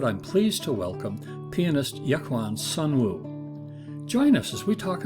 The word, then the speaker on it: Yekwon Sunwoo: Actually, in Korean, it's pronounced as Yekwon Sunwoo. Okay. I lived in the U.S. for quite some years, and it's spelled with a K, so people call me Yekwon, but feel free to do Yekwon or Yekwon.